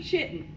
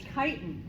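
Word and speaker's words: chitin: walls made of kiten please do not say chitten not only is your mom going to get upset but people are going to know that you're not you don't know the pronunciation it's kitan okay they're heterotroph tropes are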